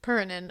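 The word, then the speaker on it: Piirainen: I literally looked up how to say it and I wrote it phonetically. Pin. Pernin.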